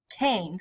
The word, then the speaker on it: Keynes: we're going to learn about this one guy Keynes is how you pronounce his name he believes that if you